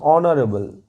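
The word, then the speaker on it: honorable: ব্যক্তি একজন সম্মানীয় ব্যক্তি তাহলে কি হবে অ্যান অনারেবল এইচ ও এন এ আর এ বি এল ই অনারেবল দেখো উচ্চারণটা অনারেবল অ দিয়ে হচ্ছে মানে অনারেবল পার্সন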